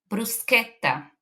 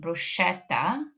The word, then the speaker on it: bruschetta: Next is the C sound ch in words like bruseta. You may have heard people saying bruschetta but that is not correct.